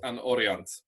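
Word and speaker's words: An Oriant: Or if you want to say it in Breton, it's an Orient.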